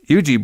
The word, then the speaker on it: Ouija: is it the demon Yuji board what it how do you say that Yuji Anie board I say it I say it Ouija Ouija that's what I was